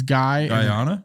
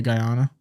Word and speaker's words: Guyana: American country of Guiana is that how you pronounce that it's guy Ayanna yeah Guyana yeah okay let's go with that Jana where's Guyana I don't know Guiana there's Guinea a New Guinea I don't know either might be making that up how's it spelled uh you want me to just throw something at you what on here yeah no you pronounce it right Guyana oh okay